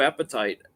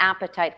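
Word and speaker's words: apatite: your weight and the appetite the blue appetite is is one of those crystals so that's a great one to show it's spelled a-p-a-t-i-t-e yeah it's pronounced kind of like appetite your appetite right okay so Sandra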